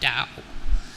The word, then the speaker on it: Dao: It is pronounced Dao.